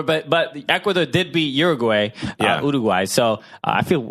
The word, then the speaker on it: Uruguay: oh get it but uruguay uruguay uruguay uruguay that's how I say it thank you that's